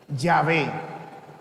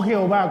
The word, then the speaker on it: Yahvé: Ese Dios que seguimos se llama Yahé, no Jehová, como dicen algunos por ahí, ¿no?